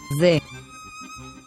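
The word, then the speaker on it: זה: And as you can see, this word ends with the letter He, which has an H sound. That's why we pronounce this as Ze.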